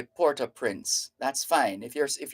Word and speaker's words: Port-au-Prince: a few years ago the Haitians themselves refer to their Capital as Porter Prince so there's no need to say things like uh Puerto prawns no that's just dancing